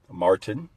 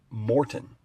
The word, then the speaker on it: Martin: Those that know me know that my name is Martin, not Morton.